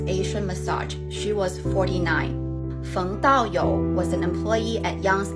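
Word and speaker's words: Daoyou Feng: fung dao yo was an employee at yang's asian massage she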